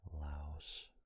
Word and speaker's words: Laos: Actually, it would be Australia, then back to Thailand, Singapore, Laos, which is pronounced Lao.